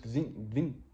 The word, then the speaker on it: kvinde: Also for a woman, when you read it, it's Gvin 2. Yeah. It's just Gvin.